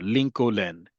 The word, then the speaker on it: Lincoln: But because in English there's that silent L, in Hebrew, because every letter is pronounced, so too is it there. Lincoln is how you say a president's name in Hebrew in Israel.